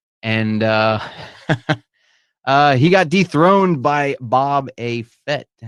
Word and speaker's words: Boba Fett: And he got dethroned by Bob A. Fett. Bob A. Feet, is that how you say his name? Boba Fett.